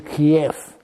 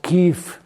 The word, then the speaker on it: Kiev: But the Russian Orthodox Church was first based in Kief, which by the way is not pronounced Ke, which sounds to me like something of a culinary distinction.